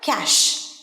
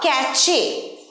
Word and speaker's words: cache: ক্যাশে, অনেকেই উচ্চারণ করে ক্যাশে বা ক্যাচে, দুটোই ভুল উচ্চারণ। ক্যাচেও নয়, ক্যাশেও নয়, ক্যাশ, ক্যাশ।